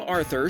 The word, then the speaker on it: Arthur: Arthur, who asked us to pronounce his name Arthur, so don't at me,